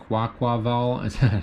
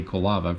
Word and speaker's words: Quaquaval: Quaquaval. Still trying to pronounce that properly because I keep wanting to say Kolava for some reason.